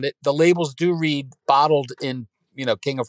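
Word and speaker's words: Botld: it and you think what yeah b-o-t-l-d but pronounced bottled bottle right so we took a storefront on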